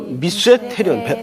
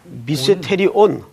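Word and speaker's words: μυστήριον: 헬라 말로 미세테리온. 발음이 좀 어려워요. 미세테리손. 미세테리온. 미세테리온. 제가 글씨를 좀 날렸어서 죄송한데 이 말은 시크릿이라는 개념이 아니에요.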